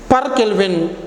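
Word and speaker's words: K⁻¹: So this is K power minus 1, this is also K power minus 1, but while pronouncing we have to call it as, read it as per Kelvin.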